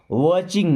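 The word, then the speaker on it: watching: मत खोलना समवन वास वाचिंग मी समवन का मतलब होता है कोई जज मीस था वाचिंग का मतलब देखना टी साइलेंट होता है वाचिंग मीस देख रहा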